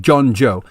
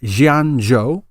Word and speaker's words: Jian Zhou: I wasn't saying John Joe. John Joe, Jian Zhou. There's a difference.